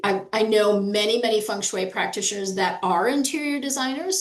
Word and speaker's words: Feng Shui: It's pronounced funue. So, uh that is a little bit different. Sometimes I hear people say fangg shui or there's all kinds of different ways people